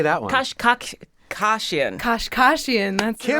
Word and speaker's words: Kashkashian: Kashkashian.